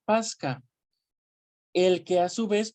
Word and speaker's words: pascha: Viene del latín eclesiástico pascha, se pronuncia Pasca, el que a su